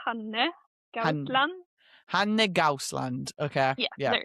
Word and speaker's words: Hanne Gausland: I would say Hanne Gausland.